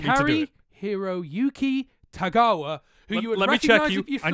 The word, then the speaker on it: Tagawa: of master of this uh I nailed the pronunciation eventually tagawa is correct yeah sure correct but anyway it's